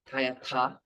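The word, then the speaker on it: tadyatha: The tayata the th is a more silent h ta like that tayata.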